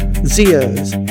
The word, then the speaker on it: Xi: Here he whispers the legacy of the original Chinese ancestors and the might of the Jade Emperor Endur Zeas which is spelled as X I is a realm of